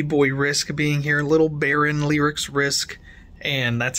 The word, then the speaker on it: Beryn: three of baby boy risk being here little Baron lyrics risk and that's how it's pronounced and he just got taken away from